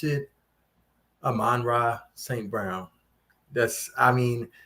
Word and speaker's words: Amon-Ra: it's it's tuned or it's hyphenated so you should it shouldn't be one you know you you don't say like michael jones or i don't know i can't think like you just say it's amanda aman ra saint brown you know but but